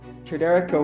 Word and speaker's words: TriDereka: Tridereka, welcome. How you doing? Good. You impressed that I pronounced the name perfectly first time as well.